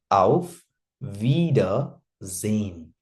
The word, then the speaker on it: Auf Wiedersehen: Auf Wiedersehen, right? Remember, Germans don't pronounce R very properly. Auf wieder nahi, auf Wiedersehen.